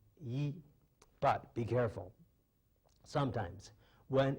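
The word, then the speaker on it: 一: Well, talking about the pronunciation of yi, normally it's pronounced yi, but be careful.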